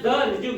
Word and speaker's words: Darjuv: दारजुम, you silent हो गया, जैसे नॉलेज में के साइलेंट होता है, समझ में आ गया?